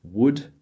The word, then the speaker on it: would: as you can see these L's need to be silent would could and should we don't want to say w or Co or sh or something like that it would sound very strange to an English native but if you've been